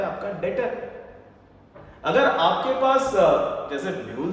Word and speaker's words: debtor: उसको हमने कल समझा, जिसको हमने नाम दिया डेटर, DEBTOR, जिसमें बी आपका होता है साइलेंट, और जिसमें हमने समझा डेटर इज a person form और इंस्टीट्यूट.